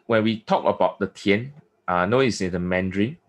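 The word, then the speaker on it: 田: written square with a cross IM mandrin is pronounced as ten and in meaning is a field f i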